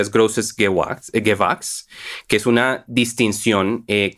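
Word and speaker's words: Großes Gewächs: Por lo que tengo entendido, como se pronuncia es Grosses Gewachs, que es una distinción que se otorga a los mejores viñedos en Alemania.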